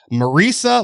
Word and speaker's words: Marisa: by the name of marisa lee kelly hope he said that name right i did because she said it rhymes with theresa ah okay yeah okay